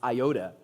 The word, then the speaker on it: iota: an Iota nice job Ari on the pronoun pronunciation of Iota by the way uh Iota not a DOT